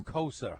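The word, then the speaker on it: Cosa: And by the way, Caspel, it's not nor it's Kosa.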